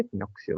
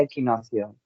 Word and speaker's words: equinoccio: vale después del equinocio del equinoccio se dice equinoccio verdad sí equinoccio equinocio Bueno aquí en castellano se pronuncia equinocio equinocio vale equinocio después